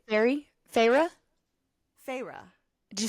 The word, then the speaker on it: Feyre: My sister said Feyre and emphasized Feyre, and that's the only way I knew it was that. Otherwise, I would have said fairy as well.